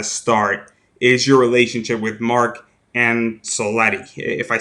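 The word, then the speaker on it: Mark Angelosetti: back to the throne well how is it pronounced mark angelo seti mr touchdown nerd it's good so you have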